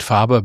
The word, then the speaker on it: Faber: I would I will tend to pronounce it fabber because Fr was German. He wrote German.